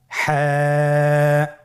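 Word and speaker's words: حاء: হা হরফটি উচ্চারিত হবে কণ্ঠনালীর মধ্যখান হতে। গলা চিপে ধরে আপনি উচ্চারণ করুন। আপনারা আমার সাথে বলুন হ্যাঁ।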